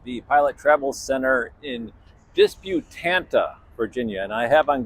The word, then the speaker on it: Disputanta: I'm here at the Pilot Travel Center in Disputanta, Virginia, and I have on good authority that is the correct pronunciation, where there are the proud owners of